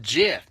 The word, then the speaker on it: GIF: Well, the creator of that says that it's pronounced Jif. Like Jif peanut butter. Like Jiffy Lube.